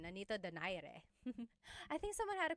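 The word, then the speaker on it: Nonito Donaire: So, Our first poll here is going to be Manni Pacquiao versus Nonito Daire or is in in the Tagalog uh pronunciation Nanito Dare.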